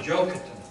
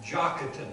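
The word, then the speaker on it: Joktan: by the line of Joker not joke but jocketan I should have said that pronounced a little better not than any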